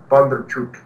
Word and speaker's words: Bondarchuk: Bondarchuk's stuff. Bondarchuk. Did I say it right that time? Yeah, Bondarchuk. Yeah, I didn't know either, but I do now.